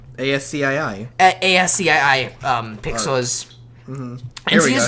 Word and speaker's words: ASCII: How is it pronounced? ASCII.